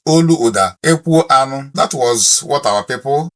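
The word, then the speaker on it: Olaudah Equiano: Oluda Ekiano is how they pronounce him. But if I tell you that the full pronunciation of Oluda Ekiano in Igbo is Oluoda Ekwu Anu, that was what our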